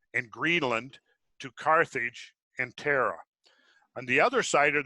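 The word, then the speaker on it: Thera: that's what we're talking about right there that's pronounced Terra Terra silent yes okay ah so that's so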